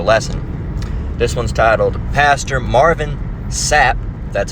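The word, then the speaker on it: Marvin Sapp: This one's titled, "Pastor Marvin Sap, that's how you pronounce his name, locks down church until they donate in parenthesis, $40,000."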